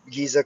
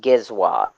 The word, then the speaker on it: Giezwa: Giza coin. It's pronounced Giezwa.